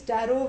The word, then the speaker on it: tarot: But this is tarot with a silent T at the end.